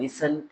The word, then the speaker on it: listen: In listen and listen, T is silent.